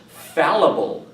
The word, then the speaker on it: fallible: Our next word is pronounced fallible.